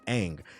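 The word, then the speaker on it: Aang: Nobody stopped to pull the show up and see that his name is pronounced ang.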